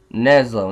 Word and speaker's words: Neslo: So, Olsen backwards is Neslo. So, that's how he got his first name. Huh. Neslo. Not Neslo. Neslo. Neslo. Neslo. Say it with me. Neslo. Don't say it like that in a creepy voice, but Neslo. S before L.